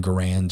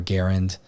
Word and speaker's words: Garand: on this particular rifle this is an M1 Gand or Garand um I'm not really sure there's always debate with how to pronounce it I usually say Gand myself but